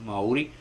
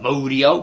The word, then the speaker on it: Maori: taught a certain way how to say it right Maori right not Modio Moody like it okay uh